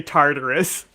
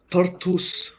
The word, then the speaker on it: Tartus: built up in know I want to say Tardis every time but but yeah so they're at Port there in taus is that how you pronounce it Tartus t Tartus tardus no no it's Tartus Tartus like I said I